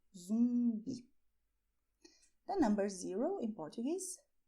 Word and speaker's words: zumbi: And people also want to know how to say "zombie" in Portuguese: "ZUMBI", "ZUMBI". You see, the UM sound? "ZUMBI".